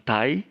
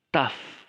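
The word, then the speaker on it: ταυ: Jadi bukan tai atau tahu, tapi taf.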